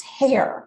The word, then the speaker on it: Herr: about Sam hair and his last name is h e r r but it is pronounced hair well I would never